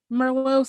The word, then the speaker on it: Merlot: It's like, I don't know, Merlot sounds like that's what's happening. I don't pronounce the T at the end, so that's fancy, I was like, maybe I'll get maybe today I'm feeling a Pinot.